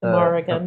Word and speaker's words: Morrigan: Yeah, so this piece is based off the, how do you pronounce it? Morrigan.